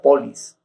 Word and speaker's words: poleis: en las letras griegas, se escribe poleis, pero, claro, se pronunciaría polis, producidas a partir de